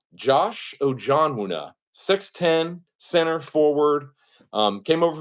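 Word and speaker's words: Ojianwuna: I have the phonetic pronunciation here. It's Ojonwuna, Josh Ojonwuna, 6'10", center forward.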